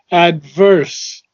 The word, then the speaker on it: adverse: Intervene, and you do not pronounce adverse properly Adverse. with the V.